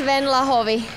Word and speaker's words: Venla Hovi: your name and because some people might not pronounce this correctly my name is ven lovi oh I like that uh and where are